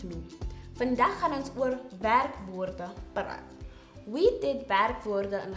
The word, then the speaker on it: werkwoorde: Werkwoorde. Once broken up, it is pronounced werkwoorde.